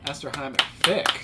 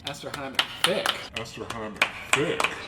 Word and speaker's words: Esterhammer-Fic: Esterhammer-Fic. Esterhammer-Fic. I want the shame in here. Marty, we went over this in the car. I thought I said it right. You know, I feel like it's only Esterhammer-Fic.